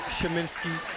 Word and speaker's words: Sheminsky: And that name you saw there is Sheminsky. That's how you pronounce it.